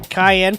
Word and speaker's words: Cayenne: plusy attempted murder of cayenne pronounced like the pepper like a bunch of